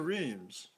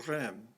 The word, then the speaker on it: Rheims: Joan persuaded a reluctant dauphin to seize the moment and come to Rheims, or Rheims. Both pronunciations are used, the French or the German.